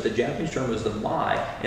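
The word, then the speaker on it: ma: japanese term is the my and it's not spelled m y but it's pronounced my myspace so if you're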